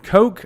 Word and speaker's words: Koch: the early 9090s by Heckler and Coke I believe is how you say it in Germany uh it was a